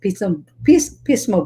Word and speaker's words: Pismo: And of course, our special guest is actually in a beautiful place, Pismo Beach.